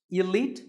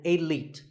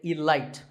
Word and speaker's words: elite: is the word elite actually there are two correct pronunciations elite and elite both are okay but just don't say alight there's no light in elite now if you keep